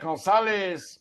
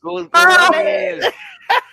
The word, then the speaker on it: Gonzalez: You gotta say it like Gonzalez. Gonzalez.